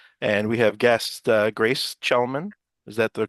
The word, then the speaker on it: Chelemen: So tonight is our second Chalk Talks, and we have guest Grace Chelemen. Is that the correct pronunciation?